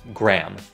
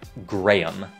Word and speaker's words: Graham: Tên đệm của người phát minh điện thoại thì các bạn bỏ qua chữ H ở đây. Người Mỹ như mình đọc là Graham, một âm tiết. Còn các nước khác đều đọc là Graham.